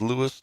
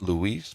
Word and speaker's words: Louis: Uh, yeah, it is Lewis, not Luis, but uh, Louis Lewis and Be I believe it's pronounced Be Baron or is it Baron?